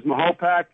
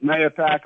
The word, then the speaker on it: Mahopac: I'm concerned, either way, if you want to refer to it as Mahopac, that's the proper way. But, you know, those who want to refer to it as MAYO-PAC, I graduated from MAYO-PAC High School, Mahopac High School. So it really depends on, you know, your origin and how long you've lived here. But either way, to me, is acceptable.